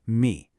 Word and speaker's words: 蜜: We're diving into the Chinese character for honey, 蜜, which is pronounced mì.